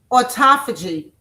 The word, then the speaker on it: autophagy: Number one, autophagy. I'll spell it for you. Autophagy. Aut like auto like autoimmune or auto things that make us, you know, that drives our bodies, right?